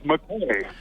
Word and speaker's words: Mackay: And the place, as you drive through, is spelled Mackay. Yeah. Well, how do you say that? Yeah. That's McCay.